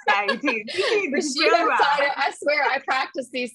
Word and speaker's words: Rashidah Fido: Rashidah Fido.